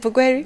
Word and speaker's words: Bugweri: You're now a woman member of parliament in Bugweri. Is it Bugweri? Bugweri. Bugweri. Oh my God! I have come trying to pronounce that word, Bugweri, and finally I failed. Bugweri. Okay. Bugweri.